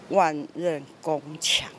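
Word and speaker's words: 万仞宫墙: 么念，他说那个叫万仞宫墙。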